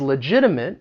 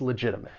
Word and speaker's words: legitimate: And with the pronunciation of this word, that first T, because I am from the United States, I will pronounce it as a flap T, which is going to sound like a soft D.